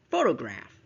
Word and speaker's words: photograph: And then we have the next word, which is photograph. Photograph. So t. The second syllable is schwa, which means it's almost unheard, right?